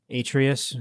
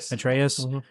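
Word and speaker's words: Atreus: Did we know that you were going to play as Atrius? That's how you say it. Atreaus.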